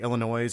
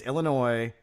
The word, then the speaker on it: Illinois: no silent s it's Illinois it's if it was Illinois then it would be ippi all right there's no silent s's in States uh but if you